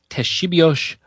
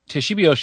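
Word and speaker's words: Ktesibios: inventor of the organ is uh somebody named Teshibio of Alexandria. I'm probably if there are Greek speakers in the audience, it's spelled KT E S I B I O S.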